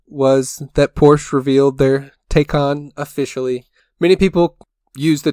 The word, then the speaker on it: Taycan: take can take on I need to need to get the true pronunciation down I think take on sounds more correct galileo russell said take in and kind of i thought he sounded a little bit funny with his pronunciation of it but regardless they said